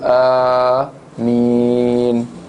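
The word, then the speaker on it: آمين: ketika selesai membaca al-fatihah diucapkan Amin dengan kuat dan secara Man secara dipanjangkan huruf yaitu Amin ya Alif dipanjangkan dan mim juga dipanjangkan ya diriwayatkan oleh al-bukhari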